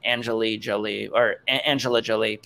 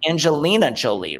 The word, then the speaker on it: Angelina Jolie: It wasn't Angela Jolie, and I didn't even say her name correctly the second time. Angelina Jolie, right?